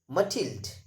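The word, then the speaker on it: Mathilde: story the necklace matild the pronunciation of m-a-t-h-i-l-d-e that is matilda so matild was a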